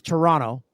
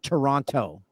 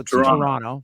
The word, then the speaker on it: Toronto: Canadian it's t it's Toronto you don't pronounce the second T because Americans love to say the Toronto so Toronto Toronto Toronto and it's